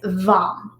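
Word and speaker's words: Vam: the root chakra is vom so it's spelled v-a-m but it's pronounced so it's kind of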